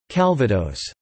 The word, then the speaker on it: Calvados: Calvados (French pronunciation: cal.va.dos) is an apple or pear brandy from the Normandy region in France.